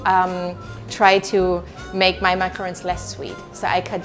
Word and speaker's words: macaron: it's just that uh you pronounce it not with a double o o in a long macaroon macaroon but you probably